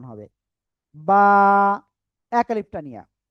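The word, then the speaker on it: ب: এটা কি অক্ষর হলো বলেন তো? এই যে দুই ঠোট আছে না দুই ঠোটের ভিজা অংশ থেকে অক্ষরটা উচ্চারণ হবে। বা এক আলিফটা নিয়া বা ওকে।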